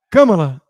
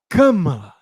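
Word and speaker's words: Kamala: e da camelon Harris só que ele falou camala haris camala e o de a costa virou e falou assim Como ousa interrompeu o cara para falar é camala É camala porque claro essa é a prioridade o cara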